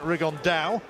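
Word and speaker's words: Rigondeaux: about fighting rigondo or as he's correctly pronounced with the spanish accent rig on dao and look two absolute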